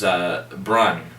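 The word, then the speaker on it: Brühl: And it's also got David, I believe it's pronounced Brun. I think I said Brule last time. It's Brun.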